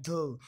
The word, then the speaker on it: the: Normally we pronounce the with a short sound like dhu, but when the comes before a vowel sound, we pronounce it as a long d.